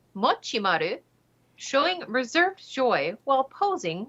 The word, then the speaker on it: Mochimaru: 317 days as of the article's penning inking matimaru or multisama as he's sometimes known usually racks